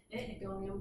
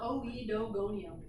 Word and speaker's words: Oedogonium: So when you see O-E together, it's pronounced eh, which I don't do well. So really these are pronounced Aedagonium, but anyway, it's not Oedogonium, it's Aedagonium.